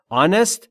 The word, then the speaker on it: honest: به این دلیل که حرف اول از کلمه آنست صدادار گفتاریه اچ نوشته شده ولی آ خونده میشه انست یعنی راستگو یا صادق